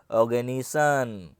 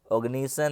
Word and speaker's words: Oganesson: ओ माय गॉड नहीं, OG का मतलब है ऑर्गेनिसन, ऑग्निसन है, क्या है ऑग्निसन, क्या नाम है ऑग्निसन, स्पेलिंग है OGANESSON, ऑग्निसन, ठीक है ना, ऑग्निसन।